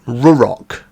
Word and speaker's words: Ruroc: They are called, I think I'm pronouncing this right, Ruroc.